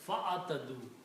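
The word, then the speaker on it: فاعتدوا: And when you read this together, you do not pronounce this alif. It is fa'atadu.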